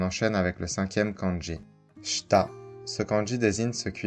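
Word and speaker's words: 下: dessous ou en bas sa lecture on est gay comme dans G la diarré on peut aussi retrouver sa lecture h dans geta qui sont les sandales en bambou traditionnel qu'on met avec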